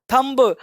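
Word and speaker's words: thumb: अब ऐसे लोग बी है तो बी पढ़ना पड़ेगा, लेकिन कॉन्सेप्ट कहता है कि एम के बाद, देखो एम के बाद और एम के बाद बी, कौन सा वर्ड? बी प्रायः साइलेंट होता है।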